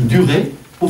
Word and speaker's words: durera: Par exemple, durer au futur. Il durera. Vous enlevez le E, et du ra. Il faut prononcer le R, parce qu'il s'agit de deux R à la base.